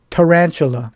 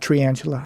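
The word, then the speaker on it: tarantula: spider or a tantula tan anula that's how you say it not tantula I did like how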